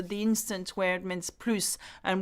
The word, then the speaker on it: plus: instant where it means plus and we don't pronounce the S I did a video